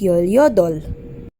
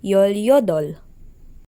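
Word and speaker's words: 열여덟: you'll ilcope the number 18 in korean is yo yodol that's how you write it and this is how you pronounce it yo yo say it with me yo yodol the second to the last number is the number 19.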